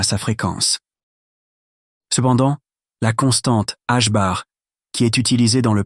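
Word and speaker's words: ħ: Prononciation H bar 2.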